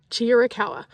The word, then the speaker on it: Chiricahua: and foremost how do you say chirawa cha chirawa so that's an easy way to remember it